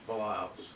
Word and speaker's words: Baliles: introduce himself and he'd say my name is baz he RS with smiles so now you know